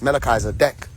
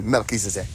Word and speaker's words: Melchizedek: In the story, the messenger of righteousness is Melchizedek or Melchizedek, as some people pronounce. It's really Melchizedek.